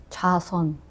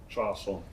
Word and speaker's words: 좌선: How do you say it? 자선. Chason. Yeah, 자선.